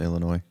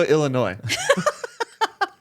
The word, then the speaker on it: Illinois: And in January You 2024, don't pronounce the S in Illinois. Chicago, Illinois.